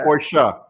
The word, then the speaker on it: Porsche: You can't pronounce it right. It is for our viewers. Everyone, it is Porsche.